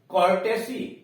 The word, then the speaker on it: courtesy: COUNTRY, COURTESY, कर्टेसी, कर्टसी, देख रहे हैं, कर्टसी, कर्टसी मतलब के सौजन्य से, इसी को शिष्टाचार भी कहते हैं, कर्टसी। अब यहां क्या है, OU का उच्चारण अ हो गया है, कर्टसी हो गया है।